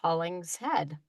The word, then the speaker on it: Hollingshead: it's not uh a problem but it is pronounced haulings head oh okay okay I didn't know my fault